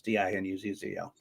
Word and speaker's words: DiNuzzo: I say DiNuzzo because that's the easy way to spell it. It's DINUZZO.